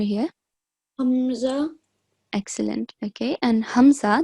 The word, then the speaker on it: Hamza: Okay, and Hamza, the sound comes from bottom of the throat.